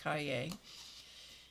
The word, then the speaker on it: cahier: This is pronounced cahier.